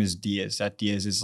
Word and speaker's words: Diez: my last name is Diez. That Diez is like the number 10 in Spanish. The only difference is that with Diez, there's no emphasis on the I, so it's just Diez.